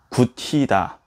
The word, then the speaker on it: 굳히다: 들어볼게요 굳히다, 받침 ㄷ과 히가 만나서 구치다 들어봅시다.